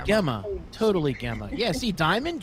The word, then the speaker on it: Gemma: Yeah, Next- Gemma's trying to fix Logician's pronunciation of her name as well.